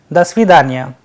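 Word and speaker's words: До свидания: When joined together, the correct pronunciation is Do Svidanya.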